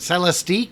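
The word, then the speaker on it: Celestiq: I asked the guy I asked the salesman how do you say it sell a stick he's like lyric and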